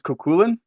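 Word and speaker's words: Cú Chulainn: snacking also I am post snack um the pronunciation is kulin and the story of kulin um in relation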